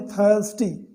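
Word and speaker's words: thirsty: ही was very थर्स्टी, थर्स्टी यानी होता है प्यासा, थर्स्टी, यहाँ पर आर लगभग साइलेंट है।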